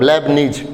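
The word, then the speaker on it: Leibniz: लेबनीज theorem, लेबनीज, T silent, लेबनीज theorem.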